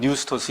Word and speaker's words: pneustos: 그 다음에 pneustos, 이거는 피읍을 우리가 묵음하게 되면 뉴스토스 이렇게 되는데 숨을 쉰다 이런 뜻이에요.